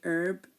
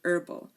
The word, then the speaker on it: herb: and honor okay so in American English um the H is um in herb and Herb they say herb and then in herbal they say herbal they do not pronounce these two and especially in